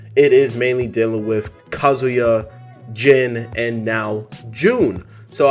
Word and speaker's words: Kazuya: had jyn you had kazuya I always say kazuya I'm saying it wrong for the longest I kept saying kazuya but really it's called kazuya right kazuya mashima as well